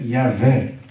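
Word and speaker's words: Yahweh: estudo do tetragrama, que a pronúncia provável é Yavé, né? Que vem para o português como Javé.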